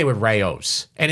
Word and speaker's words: Rao's: is for me, I always say it with Rao's, and it's Rao's. It's not Rouse. Get that out of your head. Never call it Rouse. You sound ridiculous. Okay. Rao's.